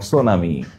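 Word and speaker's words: tsunami: জানাতে হবে সুনামি বানান কোনটা correct spelling of সুনামি সুনামি বানান কোনটা একটু কারেক্ট স্পেলিং হিসেবে কোনটা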